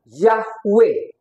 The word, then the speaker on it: Yahweh: itu Nam y ya tulisannya Yod he ww he dikasih tanda masora bacanya yahwe jadi saya pegang namanya